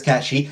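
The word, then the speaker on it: Cait Sith: Also, the bit where you're running around as Cat She, and fuck you, Square, I will not pronounce it wrong. It's Cat She.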